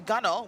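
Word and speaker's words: gunwale: There's the bow, the stern, the gunnel, which is spelled gun whale, not anything to do with whales, which is the upper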